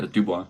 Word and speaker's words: Dubois: Anthony Joshua and Dubois or whatever the fuck. How do you say his name? Yeah, Dubois, you got it.